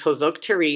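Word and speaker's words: Hősök tere: a junior wash you heroes square pronounced hose oak tree and hungarian is one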